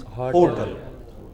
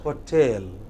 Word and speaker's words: hotel: Yeah, the wrong pronunciation is hotel. Correct pronunciation is hotel.